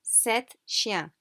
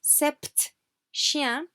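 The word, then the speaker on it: sept chiens: like i know se so to make sure we mean seven we say set shia however we do not pronounce the p okay so do not say sept shia however tempting because that's not correct french okay it's very it's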